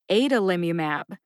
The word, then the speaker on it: adalimumab: pronunciation of generic Humera is adalimumab Ada Lim umab has five syllables a as in day da like dungeon Lim like limit U like ukulele and